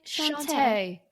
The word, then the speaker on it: chat: cat kitty cat and it's sh sha it's spelled chat c h a t but you say sha that's right so actually